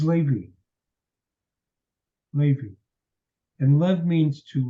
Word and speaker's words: Levi: see Seminary graduates respond calling him Levi it is as incorrect a pronunciation as you can ever get his name is Levy Levy and love means